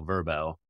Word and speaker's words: VRBO: counter argue that VRBO as an acronym stood for Vacation Rental by Owner, but as they're going by now, Verbo, that's their brand.